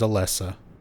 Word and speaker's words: Alessa: Also, a bit of a pet peeve, but her name is Alessa. So many people misspell it as Alyssa. A l y. It's Alessa.